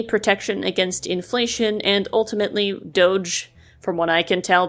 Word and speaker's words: Doge: up other coins like Doge my notes say it's pronounced Doge not dog or doggy as I've heard some people say if you're mad about